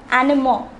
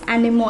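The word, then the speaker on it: animaux: are not getting confused say the next word animo it is also in the plural form this aux at the end indicates that lays animo it means animals the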